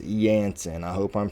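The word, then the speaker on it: Jansen: Somebody in the comments said that it was pronounced Yansen.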